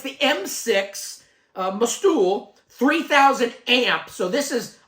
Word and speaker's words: MOSTOOL: so on the front how do you pronounce that must do most stool uh it's just a lightning bolt in the O so you've got to really pronounce that sucker and it's the m6